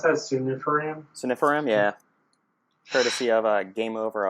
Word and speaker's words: sunifiram: And I'm going to use that how do you pronounce that? Sunifiram? Sunifiram, yeah.